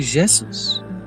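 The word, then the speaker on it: Jesús: in cattle Catalonia then Catalonia A J is pronounced like a J in French so you say Jesus people pilgrimage here from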